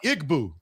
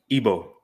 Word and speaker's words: Igbo: Now I'm Igboo. How you say it? Ebo.